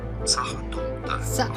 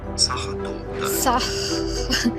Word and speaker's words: Sachertorte: Pronunciation. Sachertorte. Okay. What? Yes, I know in English. Pronounce once and for all the name of these recipes, German and Austrian. German pronunciation. Sachertorte.